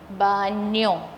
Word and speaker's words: baño: Now repeat after me. Ban. Yo. Baño. El baño.